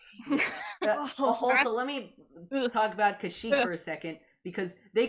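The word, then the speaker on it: Kashyyyk: playing kour yesterday and they literally said kashuk and I'm like excuse you kashuk out of here like that's it's kashik like excuse me like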